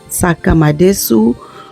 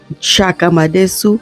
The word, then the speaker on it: Nsaka madesu: I am making some Saka Madu or Chaka madesu so it depends on how you call it how do you say it do you say sakad or do you say chaku whichever way you say